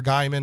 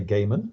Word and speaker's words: Gaiman: with Neil Gaiman or Guymon how do I get corrected every time I say Neil Gaiman how do you say avoid oh I think I normally hear people say Gaiman Gaiman okay but I think